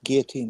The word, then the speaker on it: guillotine: It's guillotine. It's a French word. You have to pronounce it that way.